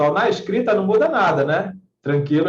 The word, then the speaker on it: tranquilo: repente ele pode perguntar com a retirada do trema da palavra tranquilo o o também não precisa mais ser pronunciado a pronúncia é tranquilo não é claro que não abram ser é tranquilo como sempre foi Tá beleza então então